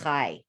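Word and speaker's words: חי: like Hebrew and Yiddish, the number 18 is pronounced chai. And chai means life.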